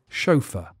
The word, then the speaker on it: chauffeur: answer is chauffeur again the pronunciation is a bit tricky because it's written differently from how it's said it looks like a french word i'm pretty sure it is a french word but the english have made it lazy and english-sounding and we say chauffeur number three this one